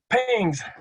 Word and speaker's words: PGNCS: It was PGNCS, but nobody could pronounce that, so they called it PINGS.